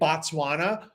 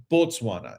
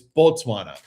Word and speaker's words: Botswana: If you say Batswana, which is how most English speakers will want to say it, they'll want to say Batswana. No, they will correct you and say Botswana. It's not It's not Batswana. It's Botswana.